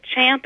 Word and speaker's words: champ: but it technically isn't it is champ at the bit but chomp at the bit is more common now so I think this